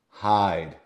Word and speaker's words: hide: this is sound but if I put an e right here we don't hear the e but it gives its power to the I and it sounds like I hide great question great question